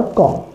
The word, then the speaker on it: comb: यहाँ एम के बाद बी आया है तो आपको बी को नहीं पढ़ना है, बी को साइलेंट कर देना है और यहीं तक पढ़ना है, टॉम, बॉम्ब और कॉम।